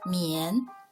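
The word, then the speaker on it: 宀: house or a cover its pronunciation mien the lower part means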